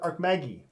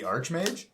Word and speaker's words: archmage: store robe of the I call it Arc Maggie robe of the archmage all right that sounds way better yeah it sounds way better than Arc Maggie dark Maggie uh that's